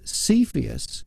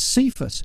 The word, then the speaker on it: Cepheus: it for some reason the character cepheus now and again i pronounced it as cephus for no reason and you'd pick